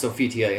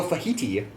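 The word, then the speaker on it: Sophitia: Taki and volda and it's hilarious how they pronounce sofitia in the game uh the English dub was not great and it was so fajiti yes I love myself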